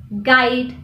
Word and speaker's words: guide: The letter U is silent when it comes after a G at the beginning of the word. For example, guess, guide.